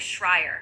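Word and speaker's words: Schreier: It's pronounced like Shrier.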